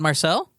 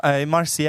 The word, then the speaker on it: Marcial: Oh my God, Marcel? Like Martial? No, Marcial. I was yeah.